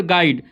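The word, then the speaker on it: guide: चलिए वि letter silent in the word गाइड गाइड गाइड इसमें जो साइलेंट शब्द है वो आप देख सकते हैं कि ए यू क्या है यहां पे साइलेंट है।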